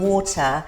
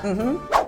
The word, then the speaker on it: water: talking about drinks, is if you want some water, to actually pronounce it water. Because if you don't pronounce it, the T like a D, then they don't understand what you mean. Yeah, it's so bizarre. But get that double D going.